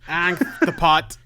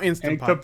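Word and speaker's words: Ankhtepot: Anktapot. Not Instapot, like I thought you were saying.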